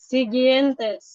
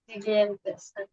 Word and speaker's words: siguientes: আচ্ছা, এটা এখানে ও এর উচ্চারণ হবে না, সিগিয়েন্তেস। Usar siguiente. সিগিয়েন্তেস।